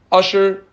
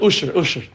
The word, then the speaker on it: Asher: Reuven, Shimon, Levi, Asher, not Asher the performer. Asher the Aleph, Shin, Reish. Asher. Asher. You have to say it like the Satmar. Usher.